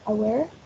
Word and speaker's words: aware: Then we have aware. It has 3 syllables and the prominence is in the second one.